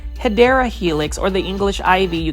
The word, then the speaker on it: Hedera helix: if I don't say Hydra Helix. Say it with me, plant foldies, Hydra Helix. Or the correct way to say it with me as well, Hedera Helix, or the English ivy.